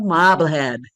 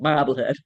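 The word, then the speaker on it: Marblehead: the shiny new hamlet of Mobblehead. You have to say it like that. Mobblehead and generously includes her husband Moses when he starts New England's cod fishing industry.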